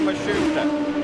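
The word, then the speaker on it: Matsushita: By the way, the pronunciation on Mashusta, that is now how his team says they'd like it used.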